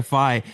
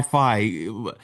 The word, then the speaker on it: Phi: Is that how it's pronounced? Yes, it is Fi. Okay. Yeah. Fi.